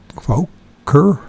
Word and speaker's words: Fokker: In 1926, Admiral Byrd and Floyd Bennett had flown a Fokker that's how you pronounce it, Fokker Admiral trimotor from Spitsbergen, Norway to the North Pole.